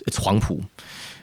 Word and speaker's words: Huangpu: You might have heard of the Huangpu Military Academy. It's spelled WHAMPOA, not a standard spelling, but it's Huangpu. It was founded with Soviet